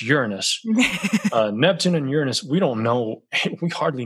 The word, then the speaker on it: Uranus: And it is pronounced Uranus.